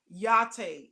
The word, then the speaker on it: Yachty: I do my kids just remember the coffee latte yachty except for latte with the Y so my name is